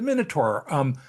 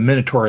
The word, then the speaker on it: Minotaur: I think, and I'll also use the pronunciation Minotaur, right? I think the British pronunciation is Minotaur, Yeah. and it's King Minos or King Minos, and then it's the Minotaur, the Minotaur. So we'll just say Minotaur.